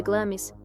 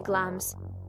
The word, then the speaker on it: Glamis: parte mais antiga do Castelo de glamis pronuncia-se glams foi construída em 1372 quando